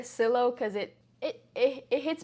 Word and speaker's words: Sillo: how is it pronounced I call it made by Silo and my family probably doesn't like that because our last name is hermosio so it should be made by Seal but I prefer Silo because it it it